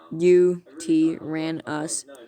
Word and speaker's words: Yutyrannus: Name Yutyrannus, Mandarin/Greek for feathered tyrant, pronounced Yutyrannus.